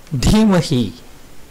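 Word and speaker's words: धीमहि: Dhimahi, dhyo. The dhi in both these words need attention. They are wrongly sounded as d.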